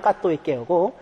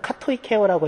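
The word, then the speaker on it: κατοικέω: 있게요 까또 있게는 말입니다 저제 발음은 까또 있게요 독일 사람들은 카토이 케어라고 얘기하는데 제발이 맞습니다 카토이 케어라는 말인데 오오이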